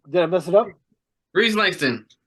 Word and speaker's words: Rhys Langston: Rhys Langston. Rhys Langston. I got it right the first time before you officially announced the name. I'm terrible at pronouncing everything. Good. Rhys Langston.